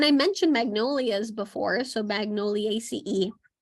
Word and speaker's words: Magnoliaceae: And so yes, it's ACE, so the ACEAE at the end. And so before, I did not realize that that's how it was pronounced, and I would pronounce it like Magnoliaceae, or no, sorry, I'm saying it correctly, Magnoliaceae. I think I would say AC, but it's ACE.